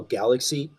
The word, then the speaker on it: Galaxe: So first and foremost, I have a solo project that I call Galaxy. It's spelled Galaxe.